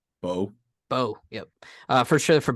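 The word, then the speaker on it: Beau: Bo, Bo.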